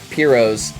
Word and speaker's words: Piro: Now I have a pair of Piros, I think is how you pronounce it, but most people say Piro, but it's pirouette. It's a play on the pirouette word.